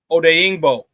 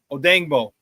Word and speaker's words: Odeyingbo: So Shorty is pronounced Deo Odeyingbo. Odeyingbo. If you say it quick, Odeyingbo. Odeyingbo is how you pronounce it.